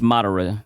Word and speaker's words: Madara: Madara. I say the name wrong. All you weebs cry. Madara. Yeah, it's Madara.